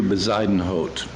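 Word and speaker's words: Bezuidenhout: spoke to a wonderful Forte pianist named Peter besidenhot and if you've heard of him that's how you pronounce his last name nobody knows how to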